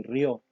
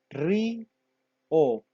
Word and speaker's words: río: Usted no dice Raúl, ni Saúl, ni Tia, ni Río. Usted dice claramente Raúl, Saúl, Tia, Río. Quiere decir que acá, aunque las vocales estén juntas, se pronuncian en dos sílabas.